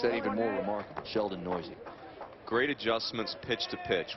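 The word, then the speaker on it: Neuse: from Fort Worth Sheldon noisy and when you see the last name and the way it's spelled I can only promise you that noisy is the proper pronunciation you might have the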